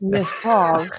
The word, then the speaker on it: Lefroy: Lefroy.